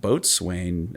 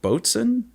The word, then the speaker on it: boatswain: and this actually says the pronunciation is not boatswain it's like boats n' oh that's awful huh